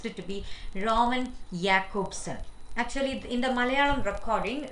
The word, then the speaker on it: Jakobson: pronounced to be uh it's wrongly pronounced by me as roman jackpotson because i didn't know the pronunciation exact pronunciation then sorry for that and it says i take this as an opportunity to correct that okay roman yakubson is the exact pronunciation so now next uh